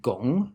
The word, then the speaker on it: 汞: friend mercury is called gong in mandarin chinese and because that sounds like the word for work the character for mercury